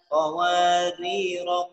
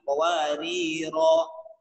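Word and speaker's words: قواريرا: Kenapa nggak dibaca qawariro? Nah, karena di situ huruf alifnya dipandang tidak ada karena sudah ada peringatan rambu pada lingkaran bulat. Qawarir. Sehingga kita dapat petunjuk cara bacanya sesuai dengan riwayat, dibacanya qawarir.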